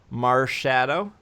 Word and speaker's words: Marshadow: The third name, which was trademarked, was Marshadow. M-A-R. Shadow, the word shadow. So that's a little bit simpler, I think. Are you sure it's not Mars Hadao I Mars Haddow.